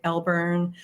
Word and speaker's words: Alburn: Growing up, nobody knew how to pronounce my name. So we had Alborn. It was actually slightly different. So it was Al or L, or I sort of tend to say Elburn, but when I'm spelling it, I'll say Alburn.